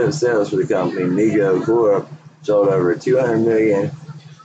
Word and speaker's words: Mego: Mago, pronounced Mego, Corporation was started by his father David Abrams in 1954, named by his younger brother Howard, who would say Mego too.